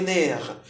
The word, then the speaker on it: nerfs: Les nerfs, hein, le F ne se prononce pas.